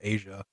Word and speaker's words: Asha: to be actually I didn't know how to pronounce her name. I didn't know if it was Asha or Asia. Asha Sharma.